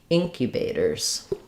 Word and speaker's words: incubators: So, this is stressed on the first syllable ink. So, it sounds like ink u bators incubators um First syllable stress.